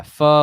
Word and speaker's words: pho: pronouncing wrong possibly yeah pho like you know you like stub your foot you're like it's kind of like that it's not o it doesn't have a long o um let's see huh